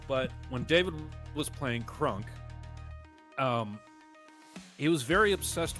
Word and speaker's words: Krunk: Didn't know exactly how to play and uh we he made this uh half orc barbarian named Krunk. Crunk. What? Okay, spell it. K R U N K. Crunk.